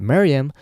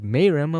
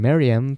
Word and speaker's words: Meruem: I think it's pronounced Maryam, though I might have said Mayram a few times in the video.